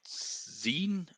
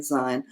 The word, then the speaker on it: sein: Is it zine? Um, No, no. If you Sein, see sein, an E and an I, it's always pronounced I.